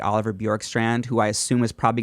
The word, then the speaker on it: Bjorkstrand: The Tampa Bay Lightning, they acquire forward Oliver Bjorkstrand. I'm pronouncing it correctly, right?